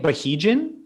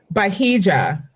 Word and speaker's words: Bahija: How do you say it? Bahijan? Oh God, no. Bahija.